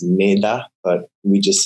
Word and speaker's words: Mettā: It's actually pronounced Mettā, but we just say Mettā. It's a Pali word.